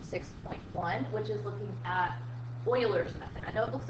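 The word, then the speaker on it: Euler: part of section 6.1 which is looking at Oilers method I know it looks like ERS method but it is pronounced Oilers method so in the first part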